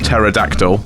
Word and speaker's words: pterodactyl: whirl, yeah, and then so like the action of the propellers, and then pater, hence pterodactyl. Pterodactyl. The P is silent.